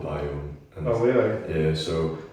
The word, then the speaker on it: Biome: So yeah, bring me, that's how you pronounce the name of the band. Biome.